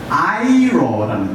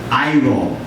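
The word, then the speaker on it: αἴρω: 즉 다시 말씀드려서 이 옮겨갔다는 그 말은 이제 헬라어로 보니까 아이로라는 말이에요. 여러분 발음해 보세요. 아이로.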